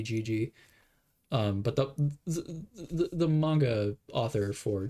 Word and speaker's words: Gege: If you see, I think you pronounce it Gege, but it might be Gigi.